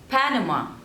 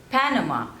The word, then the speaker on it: Panama: Oman Oman next is Panama Panama so there are three syllables and you have to stress on the first one no ma Panama Panama